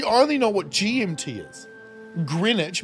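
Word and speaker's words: Greenwich: know what GMT is greinwich meantime which is weird cuz it's spelled green and then which with a W all of us is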